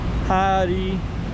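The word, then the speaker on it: 헤어: It says Hari Salon, 4 syllables. Hari is 2 syllables. Hair. Salon is a salon. Hair salon. So okay, this is grilled fish. So yeah, hair in Korean is 2 syllables. In English it's 1 syllable, but in Korean it's 2 syllables.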